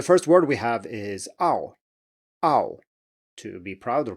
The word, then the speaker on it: ao: So the next one is spelled A-O in pinyin, and it's pronounced ow, ow, ow. So maybe you can hear that this ah sound is further back.